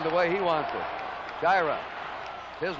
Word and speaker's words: Sciarra: Now, we've had some calls about the pronunciation of Sciarra. We asked him yesterday, and he said it's Sciarra. Sciarra, some call him. We're going along the way he wants it. Sciarra, his name.